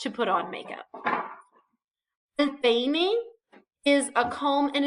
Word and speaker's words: peine: El peine is a comb, and it is very important that you pronounce your I, and not say el pene, because el pene is boy parts. El peine is comb. So be careful with your pronunciation.